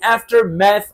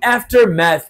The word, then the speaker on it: aftermath: Structure क्या है अगर आप देखें तो लिखा है इन द आफ्टर मैथ ऑफ।